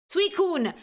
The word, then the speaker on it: Suicune: How do I pronounce this, Sweet Queen? Suicune. Yeah, Suicune, I was very surprised when I found out that this was not an ice type.